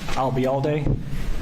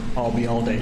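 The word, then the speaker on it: Ayalde: was that you uh remember the phrase I'll be here all day and drop it here I'll be all day you got it and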